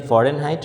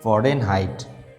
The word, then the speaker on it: Fahrenheit: So this is x-axis and y-axis Fahrenheit. Fahrenheit. You know these Fahrenheit. The actual pronunciation is Fahren, and then height.